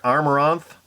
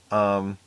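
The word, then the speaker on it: Amaranthe: You also sing, and I always pronounce this band name wrong. I hope I'm going to get it right here. Amaranth. Amaranth. Amaranth.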